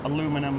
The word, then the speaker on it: aluminum: I don't like aluminium, or aluminum as Americans say.